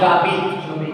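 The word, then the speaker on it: j'habite: Two words are getting connected, no. So you have to pronounce jabit. Before, because of Elysium, two words got connected, contraction is taking place. So you have to pronounce them together, like liaison. You have to say jabit.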